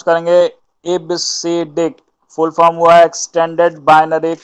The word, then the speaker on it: EBCDIC: ठीक है, इसका प्रोनाउंस जो होता है वो इबसीडिक होता है।